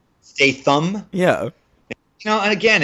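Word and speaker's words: Statham: and that is Jason Statum o why are you pronouncing it that way I don't know how to say it pretty sure it's STM Stam yeah you know again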